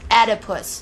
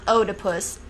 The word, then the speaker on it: Oedipus: Oedipus is spelled OEDIPUS because I didn't know that, but now I do. And I know how to say it correctly too. Oedipus, not Oedipus. Think about it, people. That's right. Read your Sophocles.